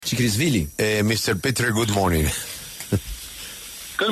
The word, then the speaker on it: Tchrikishvili: Chikrisvili. Mr. Petre, good morning. Good morning. What is the correct pronunciation of your last name? It's Tsiskharishvili.